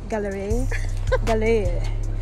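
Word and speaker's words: Galerie: How you pronounce it? Gallery. Galère. It's French.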